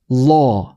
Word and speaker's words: law: 라 아니에요. 그 아가 아니에요. 오랑 어의 중간이에요. law. 로어 아니에요. 로어를 빠르게 하는 건 아니고, 로어를 빠르게 하는 건 아니고요. 자, 요게 이제 요런 느낌이에요. 그 오 하면은 입이 이렇게 모이잖아요. 오 하면 입이 모이잖아요. 그러니까 입 모양은 오인데 안에 혀는 어예요. 그게 law가 됩니다. law.